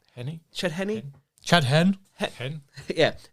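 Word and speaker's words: Henne: drive hen was perfect hen like I obiously pronouncing it like pen the pastor which I don't think he's right but yeah is Chad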